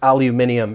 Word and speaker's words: aluminium: and i was saying no no no this is aluminium it's it's the same word it's just in british english um but i thought